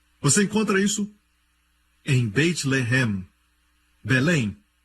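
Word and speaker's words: לֶחֶם: Mesma escrita, a única diferença é a pontuação. Eles colocam os pontos em diferentes lugares. Um é Lehem, o outro é Lahem.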